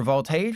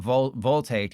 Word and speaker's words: Voltaic: If you're wondering how do you say that word, it's not voltaic. It's Voltaic. Like I'm trying to think of a like volcan No, that that doesn't work.